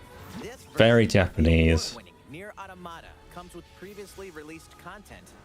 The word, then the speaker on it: Automata: Automata, that's how you say it.